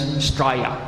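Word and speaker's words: Straya: You ask my Australian friends. Staya. S T R A Y A. Right. Never mind the O. Drop the O.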